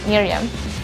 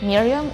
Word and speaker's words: Merriam: be the other one, Merriam. So it's either the short I or the one with the letter E, Miriam or Merriam-Webster's dictionary.